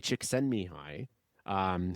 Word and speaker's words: Csikszentmihalyi: Mihai Csikszentmihalyi, who has since passed, but he was one